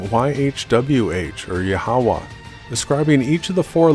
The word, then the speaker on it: Yahweh: The true name of the Creator is pronounced Yahweh, and for details on